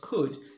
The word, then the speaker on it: could: لاحظ معي كلمة would تتألف من W-O-U-L-D, هنا حرف L صامت لا ينطق, والنفس الشيء بالنسبة لكلمة could, C-O-U-L-D, فإن حرف L صامت لا ينطق, فتعبر بقولك I would